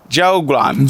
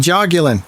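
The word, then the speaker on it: jiaogulan: So, then the third one that it was talking about was um and I know you pronounce this very well, but I I struggle. Uh, jugan. Jagulin.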